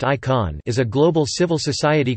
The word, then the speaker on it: ICAN: The International Campaign to Abolish Nuclear Weapons, abbreviated to ICAN, pronounced ICON, is a global civil